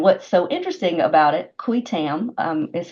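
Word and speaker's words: qui tam: so interesting about it qu Tam um is how I say it uh qu because it's Latin not not Spanish or French um qu so you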